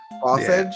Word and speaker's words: Bossage: Bossage? Yeah. Alright. Like sausage, but with a boss.